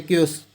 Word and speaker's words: chaos: इसकी स्पेलिंग देखना CHAOS ऐसे ही होता है क्योस, क्योस होना, ये क्योस यानी डिसऑर्डर में होना, यानी डिसऑर्डर हल्ला गुल्ला होना, कम मोशन।